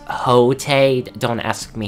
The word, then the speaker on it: Quixote: this guy's legit nuts his name is Don Quixote pronounced a hotate don't ask me how